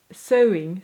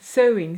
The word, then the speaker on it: sewing: sewing sewing right but what I want to say is sewing sewing sewing sewing or sewing what more like you're suing someone in court that's how I want